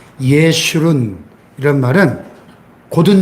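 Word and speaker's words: ישורון: 내가 택한 여수르나, 여수른이라는 말을 처음 들어보는 분도 계실 것이고, 우리가 자주 안 쓰는 말인데, 여수른이라는 말이 히브리어에 보면, 예슈룬, 히브리어로 발음하면, 예슈룬, 이런 말은 곧은 자, 옳은 자, 의로운 자, 이런 뜻입니다.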